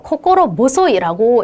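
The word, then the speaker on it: 心細い: 코코로랑 붙어서 코코로 모소이라고 읽습니다.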